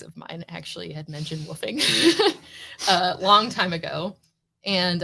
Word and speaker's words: WWOOF: What is woofing? Woofing is spelled WWOOF.